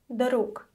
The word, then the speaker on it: друг: So, the first word for today is друг. Друг. The voiced sound at the end of the word is pronounced as voiceless k.